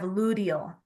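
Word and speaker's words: luteal: and then we have ludal l u t a l it sounds like you're saying ludal like with a d but it's actually spelled with a t now the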